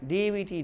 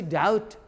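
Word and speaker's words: doubt: के बाद जब हो, दोनों स्थिति में बी साइलेंट करके बोलना है। जैसे हम दे रहे हैं डीवीटी डैट, डैट माने कर्ज, इन्हें डेवट, डीओटी डाउट, ये नहीं जो डावट।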